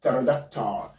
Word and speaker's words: pterodactyl: This word is pronounced pterodactyl, not pterodactyl. Pterodactyl. Please take note of that. Pterodactyl. The P here is going to be silent.